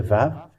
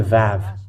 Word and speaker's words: vav: This is the Vav. Let me make it in red. This is the Vav. It is called Vav. It is pronounced as V, and this is how we write it in Hebrew.